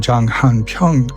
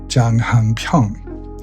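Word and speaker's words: 장한평: That fortress gave its name to the surrounding plain, Janghanpyeong. So according to the committee, that name is well rooted in this area. And they said, they claimed, that 'janganpyeong' is just a mispronunciation of 'janghanpyeong'.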